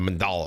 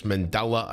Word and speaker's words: Mandela: of me checking out the mandala effect i know i say it wrong i think it's mandela effect it's very hard